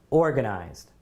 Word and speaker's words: organized: do you guys think is that the first syllable or the second syllable where's the stress organized I say this has got to go in column a right the stress is definitely right at the beginning especially when you think